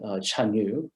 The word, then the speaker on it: Chanyu: is the emperor called Chanyu. That's the modern Chinese pronunciation, but probably in Old Chinese, the transliteration sounds more something like Dargua, which later on, interestingly,